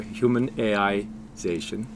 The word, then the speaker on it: HumanAIzation: But, as you can see, we have humanization and we have AI. So, AI fits really in the middle there. human AIization.